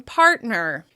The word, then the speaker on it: partner: You can hear a clear distinction between the stressed syllable in part and the reduced syllable in ner.